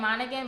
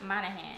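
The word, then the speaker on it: Monaghan: roadman by Annabelle manahan I was saying her name wrong the whole time I was saying monan but it's on of hand Summer Romance is about this lady and this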